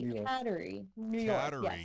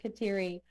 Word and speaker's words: Kateri: They say cater. Yes, I've heard it pronounced that way, too. I had never heard it before. I've always heard it Katy. Same here. I had never heard Catery until she told me they said it up that way.